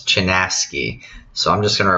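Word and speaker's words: Chinaski: we have one right here wisdom traveler it's pronounced as chanaski okay so this is a really old book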